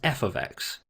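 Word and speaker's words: f(x): The left hand side, f brackets x, we usually pronounce as f ofx, which just means there's a function of x.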